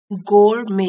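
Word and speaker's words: gourmet: word है गोर मेंे गोर में यहां लिख लेते हैं गोर में टी साइलेंट है इसमें यह एडजेक्टिव है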